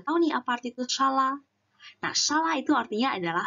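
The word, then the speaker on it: 沙拉: Shala ini merupakan kata serapan dari bahasa Inggris, teman-teman. Karena kita bilangnya salad kan, jadi kita mengambil pelafalannya dari bahasa Inggris. Sehingga kita lafalkan shala, shala, yaitu salad.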